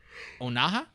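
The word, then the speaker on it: Onah: gets its director under julius oh naha i believe is how his name is pronounced uh if you don't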